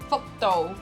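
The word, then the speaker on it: 福: It's got this word "fuck," right? What the fuck?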